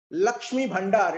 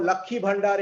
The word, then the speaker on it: Lakshmi Bhandar: started a scheme called Lakshmi Bhandar. It's called Lakhi Bhandar in local pronunciation, in Bangla pronunciation.